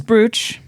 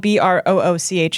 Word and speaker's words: brooch: Like BR is British is Buch. And it's spelled B R O O C H.